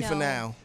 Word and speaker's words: Finau: Finau, how do you pronounce it? Finau? Tony Finau.